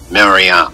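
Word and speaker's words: מרים: was the most popular maram that's how you say it in Hebrew most most popular name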